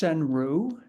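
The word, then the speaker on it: senryu: So there's a there's a I don't know if you're familiar with the words it's pronounced senru. So senru if you apply all of the rules you know the 11 to 13 syllables and so on and so forth.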